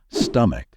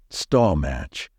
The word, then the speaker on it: stomach: the correct way to say this word is stomach however many non-native speakers tend to pronounce it as stall or even worse stall match remember the only right way to say it